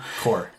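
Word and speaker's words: corps: branch, whether scouts or, Core. within the walls. Within Core. the walls. Yeah, with the core, whatever. The P is silent.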